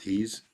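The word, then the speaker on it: Hy's: there what about highs Hy apostrophe s it's pronounced he's but that's okay yes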